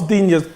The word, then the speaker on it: Digne: Dina. Digne. Okay, Definitely not Coutinho. My pronunciations have gone right down the pan.